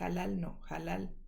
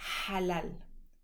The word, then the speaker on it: halal: veces escrita con H, siendo que el sonido no es como la H del inglés. No es halal, no. Si tú conoces la palabra, sabes que se debe pronunciar halal, pero si no la conoces, la pronuncias mal con H y ya, eso es todo.